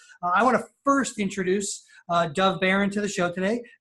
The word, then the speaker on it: Dov: D-O-V, but pronounced, if English is your first language, pronounce it D-A-W-V. Dov. Dov. Yeah, there's no wings, right? No wings, so no E. Okay, no dove. It's Dov.